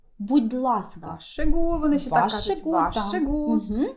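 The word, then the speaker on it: vær så god: так як вимовляється але запам'ятайте що вимова саме це як одне слово звучить ваше гу ваше гу е стандартна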